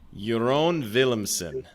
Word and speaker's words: Jeroen Willemsen: like minutes but uh your own williamson how did i do very well pronounced sir williams but yeah it's typical dutch name so yeah if everybody